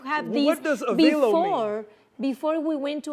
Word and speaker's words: Avelo: Okay, yeah, so it's like hello, Avelo, Hello, right? Avelo.